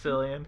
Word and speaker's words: Cillian: Killian Murphy. That's But I believe that might be how his name's actually pronounced. That's Cillian Murphy's It's Cillian.